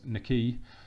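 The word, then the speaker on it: Nahki: was agreed this one Nikki wells that is how you pronounce it it's not Mackay it's Nikki he is coming in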